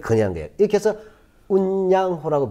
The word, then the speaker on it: 운요호: 이렇게 해서 운양호라고 배웠는데 우리 때는 일본식 발음 운요호가 오게 되는 거야.